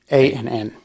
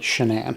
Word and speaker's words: Shanann: I guess at some point she decided she wanted to accent the second syllable. There's a different spelling of Shannon that I've seen. Most of the time it's like Shannon, but hers is actually Shanann.